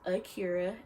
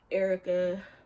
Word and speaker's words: Akira: so like I know my name is Akira Aki RA it's phonetically correct are you caught it's my life I've gotten caught Erica Acura shucks here all these are the names it's like my name's phonetically correct I don't understand but